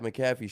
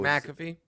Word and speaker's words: McAfee: McCaffy actually is it's another guy. It's a Yeah, the Christian. No, that's Christian McAffrey, but Macaffy is the virus protection for your computers spelled the same way.